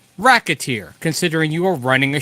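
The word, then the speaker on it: Recettear: However, the title is pronounced racketeer, as in racketeer, considering you are running a shop and doing what you can to make as much money as you can.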